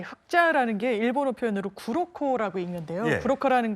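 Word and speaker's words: 黒子: 흑자내조 예 장사님 일본 언론에 저 화면을 띄울 텐데 이제 흑자 내조 저 무슨 뜻입니까 예 흑자라는게 일본어 표현으로 구로코라고 읽는데요.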